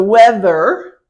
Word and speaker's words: weather: okay weather it's um these these two these two letters one sound t-h is I see where my tongue is that so you don't you don't put your lips together you put them apart